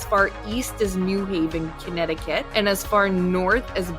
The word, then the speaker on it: Connecticut: Connecticut.